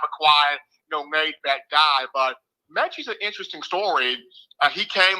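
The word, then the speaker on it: Metchie: Now, some people call him Michi. I call him Mechie. He prefers both, kind of a quiet, laid-back guy. But Mechie's an interesting story.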